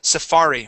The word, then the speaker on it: safari: there you go and this word here is Safari with the accent on the that second a safari Safari okay give